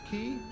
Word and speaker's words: quay: Now I will say under Hill uh I found out that um class qu u a y is actually pronounced key in soldier it's like in Donkey